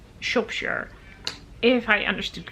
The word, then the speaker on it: Shropshire: to pronounce it and a lovely viewer pointed out to me she is actually from that region and she said you say it more like shopshere and that makes sense